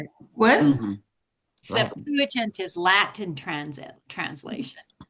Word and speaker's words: Septuagint: The Septuagint. the what? Septuagint. Septuagint. And that's a Greek translation of the Old Testament or the New, both? Latin translation, is it not? What? Mhm. Septuagint is Latin translation.